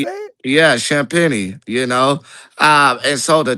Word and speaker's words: Champagnie: Yeah, Champagnie, you know.